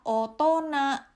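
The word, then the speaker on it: 大人: Apabila kanji ini dipasangkan dengan kanji besar, ini adalah kanji besar, ini dibacanya adalah otona, artinya adalah orang dewasa.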